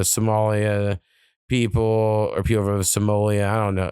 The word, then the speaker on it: Somalia: people or people from Somalia. I don't know. I keep saying Somal Somoleia, but I don't think I'm pronounc uh Somalia. Somalia.